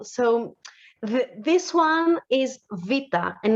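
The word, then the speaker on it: Βήτα: have to mention is the letter vita so the name is vita but the pronunciation is v so a common mistake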